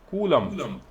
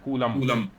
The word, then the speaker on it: coulomb: The name of SI unit of charge is coulomb. COLUMB. Actually, it is written as COLOUMB. COLOUMB. Coulomb. Okay. लेकिन इसका जो actual pronunciation है, that is Coulomb. Because it's a French named after a French scientist.